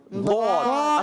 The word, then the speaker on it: ضاد: پڑھنا، اور اسی طرح آپ کو ڈال بھی نہیں پڑھنا، ڈا ڈو ڈی، ڈال بھی نہیں پڑھنا، دال بھی نہیں پڑھنا، زواد بھی نہیں پڑھنا۔ کیا پڑھنا ہے؟ ضاد۔ اصل جو تلفظ ہے ضا دو دی۔ ضا دو دی۔ ایسا لگے گا جیسے دال تھوڑا موٹا کر کے پڑھا جا رہا ہے، ایسا محسوس ہوگا، ٹھیک ہے؟